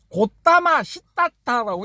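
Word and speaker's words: 고타마 싯닷타: 그런 것도 있지만은 이거 초기불교 하시는 분들은 가우타마 시타르타라고 발음하면 경기를 일으켜. 그래. 고타마 시타타라고 이래 발음해야 돼.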